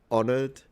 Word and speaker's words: honored: He even get greatly honored. Was the H there, or was it had already been dropped in pronunciation? Let me hear. I feel greatly honored. Yeah, the H has already disappeared in this word.